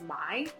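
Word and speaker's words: Mai: weird pronunciations like mei is spelled m-a-i but if you were gonna in pinyin that should be pronounced my like if you were gonna write it in opinion it should be m-e-i to be pronounced may and so anyway love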